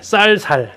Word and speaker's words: 쌀: 네, 쌀 이거 잘 발음 못 한다고 그러잖아요. 그래서 여기서 아마 이제 호남과 영남 경기에서 이렇게 했겠죠. 쌀 해봐 그러면 이제 살고 죽고.